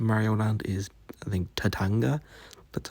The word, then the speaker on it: Tatanga: But the villain of Super Mario Land is, I think, Tatanga.